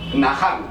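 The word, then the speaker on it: נחם: palabra del antiguo hebreo que se llama Nahán, que se escribe Nashán.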